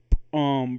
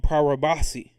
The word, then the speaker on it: Paribhasa: And so the Vedantic epistemologists in books like Vedanta, I spell it out for you. Vedanta, right? Vedanta, and then Parabhasa, Paribhasa, for those who might want to go get that book.